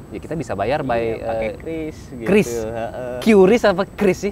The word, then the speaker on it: QRIS: Baca aja Kris gitu. Kris ya, Kris. Karena saya sempat belakangan ini orang sedang memperdebatkan itu. QRIS atau Kris. Kalau saya sih nyebutnya dulu QRIS. Tapi sekarang semenjak dikonfirmasi bacanya adalah Kris, saya nyebutnya Kris.